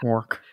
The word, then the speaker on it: quark: Quark. I mean, that's kind of how it's pronounced.